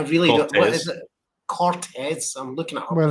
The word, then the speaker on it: Corteiz: Cortez. I'm looking at it. Well, it's Corteiz, right? Yeah, but then on the website it's spelled CRTZ.